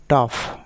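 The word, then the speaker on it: tough: যেমন টাফ মানে কঠিন, টাফ, এখানে জিএচ এর উচ্চারণ ফ হয়ে যাচ্ছে, এনাফ।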